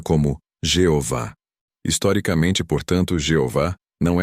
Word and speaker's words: Jeová: A forma Jeová é bastante conhecida hoje, especialmente por causa das Testemunhas de Jeová. Porém, a maioria dos especialistas em hebraico bíblico concorda que essa provavelmente não era a pronúncia original. A forma que muitos estudiosos consideram mais próxima da pronúncia antiga é Iahweh, ou em português, Iavé.